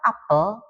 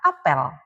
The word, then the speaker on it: apel: Ada kata apel, ada kata apel. Dua kata ini penulisan hurufnya sama persis A, P, E, dan L. Tapi penyebutannya berbeda. Satu apel buah, satu apel kegiatan.